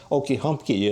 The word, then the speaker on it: Okahumpka: And he wrote that there was a remarkable spring called Okahumpka. They didn't pronounce it that way. They pronounced it with two E's at the end and two E's in the middle, and that's all switched around a lot.